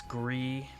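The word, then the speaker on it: Gris: Sorry, I should have uh pronounced that correctly a second ago, but Gisham and then it's Gree because the S is silent.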